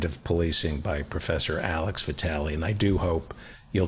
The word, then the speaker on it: Vitale: Am I pronouncing your last name? Yeah, Vitale.